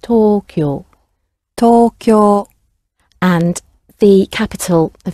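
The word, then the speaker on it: 東京: In Japanese, it's pronounced Tokyo.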